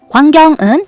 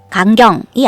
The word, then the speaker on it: 광경: 광경은 어떤 일이 일어나고 있는 장면을 뜻하는 낱말인데요. 광은 오와 아를 차례로 쓰는 와를 써줘요. 강경이 아니라 광경.